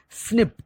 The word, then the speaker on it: SNP: dna differences that means snp single nucleotide polymorphism pronounced as we can call it as a snip snips occurs in humans identification of thick snips